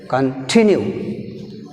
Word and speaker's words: continue: Continue. See here, Kan is a prefix, weak prefix. That's why we have stress on the second syllable, tinu.